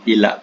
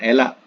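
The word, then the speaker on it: إيلاء: disebut ilak tadi J sebab itu kita ee ejaan Ila tuh kalau ee Arabnya Alif ya lam alif Hamza ya Nah disebut sebagai Ila Ila ya Alif ya lam alif Hamza hak ya Ah bukan elak ya elak lain kita mengelak ha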